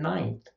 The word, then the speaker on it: ninth: But actually, in general, most people, when they're pronouncing the word ninth, they don't put their tongue on the alveolar ridge to make an N before they go into the interdental fricative.